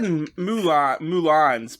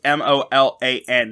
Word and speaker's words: Molan: And you said Mulans, but I just wanted to spell it. It's Molan, not Mulan as like the movie Mulan.